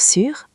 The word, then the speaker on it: sûr: Écoutez bien ma bouche pour sûr on la bouche est petite en avant comme pour faire un bisou. Sûr ! Sûr ! Allez-y Alex ! Sûr ! Sûr !